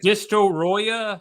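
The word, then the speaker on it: Destoroyah: put the Japanese accent sounds like a very Japanese word for destroy it sounds though like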